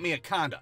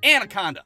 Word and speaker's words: Miakonda: And my little 10-year-old ass couldn't even pronounce Camp Miaconda. To me, it was always Camp Anaconda.